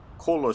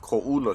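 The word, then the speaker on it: Koʻula: It looks like Kola Street, but it's pronounced Ko'ula Street.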